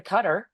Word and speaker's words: Qatar: But one of the first trips we went on, we went over to Qatar. I hope Alan, did I say that right? It's Qatar. You're absolutely right.